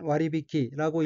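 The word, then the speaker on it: 割引: 넷째 줄 오른편 어휘는 한자가 한국어로 할인이고 벨할, 끓인자로 되어 있고 일본어로는 와리비키라고 읽으며 와리비키는 할인이란 뜻의 명사 또는 수루 타동사입니다.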